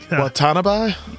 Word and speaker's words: Watanabe: Do I try to pronounce his last name? Watanabe?